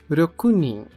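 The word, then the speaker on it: 六人: falamos a quantidade de seis pessoas que é rokunin rokunin a segunda leitura é seguido pelo t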